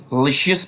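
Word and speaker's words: luscious: synonym of the word लीशियस याद रखेंगे इसको लसियस प्रोनाउंस करते हैं ठीक सो सिनोनिम ऑफ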